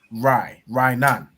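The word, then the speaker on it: רענן: You have a ra and an I joined to make rai, and a na joined to make nan.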